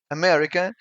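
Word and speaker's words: América: its sound for example America in portuges sounds americ both both A's are shut just like in English which means wool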